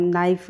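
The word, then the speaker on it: knife: है नाइफ उच्चार में उच्चारण में तो हम नाइफ बोलेंगे लेकिन लिखेंगे हम के एन आई तो के हमारा जो होगा वो साइलेंट हो जाएगा तो यह होगा हमारा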